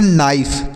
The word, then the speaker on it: knife: यहाँ पर के साइलेंट है, के और यन एक साथ हैं, तो इसलिए हम के को नहीं पढ़ेंगे। तो इसे पढ़ते हैं नाइफ।